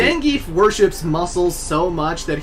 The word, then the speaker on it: Zangief: Well, actually, his name is pronounced Zangief, but I've been calling him the Geef since I was 6 years old, and it's really hard to break that habit, okay?